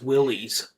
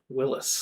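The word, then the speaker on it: Willys: Um, there's people don't know how to pronounce Willies. Uhhuh. Willis.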